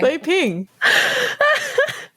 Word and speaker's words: Leping: How to pronounce Leping? It's not the French way. Leping.